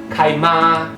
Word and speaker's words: chi: So to help you to remember that C-H-I in this case is pronounced as Chi, I have coined a word, C-H-I-M-A. It's read as Kaima, Kaima, Kaima.